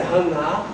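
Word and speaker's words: חנה: O conceito de graça, na língua original do Antigo Testamento, é um nome de mulher, Ana, que é assim que se escreve em hebraico, e a pronúncia é Haná.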